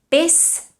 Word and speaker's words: pes: Pes is pronounced with an S, whereas pesat is pronounced with a Z.